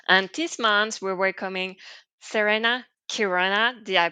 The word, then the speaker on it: Serena Chironna: And sometimes it's true that C and H are not pronounced ch, but k, depending on the language.